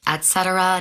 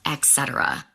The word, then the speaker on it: et cetera: It's pronounced et cetera, not etc.